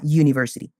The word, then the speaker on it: university: For example, we say a university, not an university. A university, because the U sounds like your.